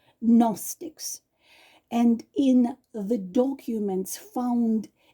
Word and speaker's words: Gnostics: In English, you don't pronounce the letter G, Gnostics.